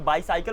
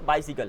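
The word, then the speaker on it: bicycle: आप बोल सकते हो इसे बायसाइकिल मत बोलो बाइसिकल है बाइसिकल बाइसिकल ओके तो आई यूज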